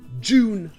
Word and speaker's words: Dune: En anglais américain, tout comme le mot endure, ça se prononce simplement Dune.